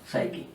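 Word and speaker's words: psyche: P silent होता है इसमें, साइकी।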